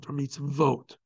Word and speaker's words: mitzvot: the plural form of mitz really should be spelled with two vs meets V or meets vote but instead of that the letter VAV with